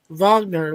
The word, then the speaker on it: Wagner: But Well, with Darren Wagner, like, I was playfully, pronouncing his last name like they do in Germany, Wagner, like, the Ride of the Valkyries.